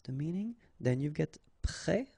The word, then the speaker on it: prêt: You don't pronounce it, and then both of them are masculine. Un port. Un prêt. Prêt.